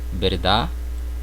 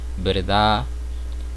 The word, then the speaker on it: verdad: Então percebam aqui, eu trouxe 3 palavras: verdade, felicidade, vecindade, certo? Então vocês percebam que eu não pronuncio a letra D no final da palavra. Ela praticamente é muda, o som é mudo, tá bom?